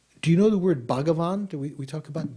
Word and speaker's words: Bhagavan: Bavan is actually how it is in Sanskrit, three syllables, not not Banan or Bawan but Bavan uh is one of